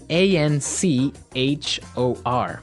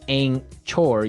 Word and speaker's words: anchor: Now, it's spelled A N C H O R. Right? But you don't pronounce the ch as you normally would.